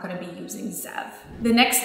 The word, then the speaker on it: Zev: in a second, is Zev. So Zev is very similar to Lev. It's spelled Z-E-V.